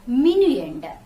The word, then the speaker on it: minuend: subtract from is called minuend how to pronounce the word minion am i and you e and d min lender the number that you subtract from is called minion the second number the